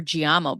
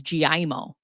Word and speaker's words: Gimo: attorney for US trustee, I know we call her Gamo, but when I've heard her say her name, it's Gimo.